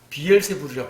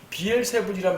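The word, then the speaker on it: Beelzebul: 자, 예수님에게 비엘세불이라 불렀어요. 예, 비엘세불 같은 말입니다. 헬라어식 발음은 비엘세불이고 킹제임스 성경식 발음은 비엘세붑이에요. 이건 뭐 중요하지 않습니다.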